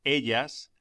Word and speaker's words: ella: Los pronombres yo, tú, él, ella, nosotros, vosotros, ellos, ellas se omiten generalmente cuando no figuran de un modo enfático en la frase. 4. Ella está. Pronúnciese ella. La elle se pronuncia como doble L en William.